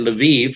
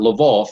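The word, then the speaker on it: Lviv: on the other hand leve which is in the far west i prefer to use that that pronunciation the ukrainian not level the russian uh so you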